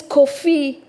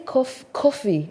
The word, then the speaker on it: Kofi: Kofi Annan I can't even say So, your name is Kofi.